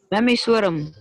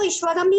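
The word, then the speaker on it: ईश्वरम्: ही होगा ध्यान दीजिए उसका उच्चारण जो है व ईश्वरम है उसके ऊपर छत पर बिंदु ध्यान दीजिए पुष्प की छत पर बिंदु है इसलिए उसकी प्रसन जो होगी उच्चारण जो होगा व ईश्वरम ही होगा हा अध लिखिता नाम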